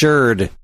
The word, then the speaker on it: Xrd: How the frig do you pronounce XRD? Sherd? Guilty Gear Sherd Revelator. What? Third? Yeah. How does XTH? I don't know. That's how I've always said it. It's Sherd.